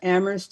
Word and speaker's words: Amherst: all its contradictions and amherst is a particularly interesting place you know for those who don't know it uh there's a saying that amherst where only the h is silent and so talk about